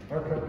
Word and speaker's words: Urquhart: I think I've pronounced it right. Is that right? Urquhart? Urquhart Castle, yeah.